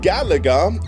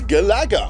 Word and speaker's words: Galaga: promoted by Namco themselves, the emphasis was on the second syllable. So it wasn't Galaga, it was Galaga. Galaga, because it was a sequel to Galaxian. Again, emphasis on the second syllable. Galaxian, Galaga.